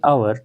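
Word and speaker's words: hour: To complete the work, आवर की अगर हम बात करेंगे ये भी एच से स्टार्ट होता है, लेकिन इसकी जो साउंड है वो एच साइलेंट रहता है, साउंड क्या निकलती है, वॉवल साउंड निकलती है तो एन लगेगा।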